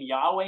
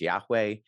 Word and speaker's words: Yahweh: So we pronounce that in sort of a modern recreation as Yahweh.